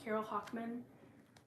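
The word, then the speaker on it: Carol Hochman: is the name I think it's called It's pronounced Carol Hockman Carol with an e h o c h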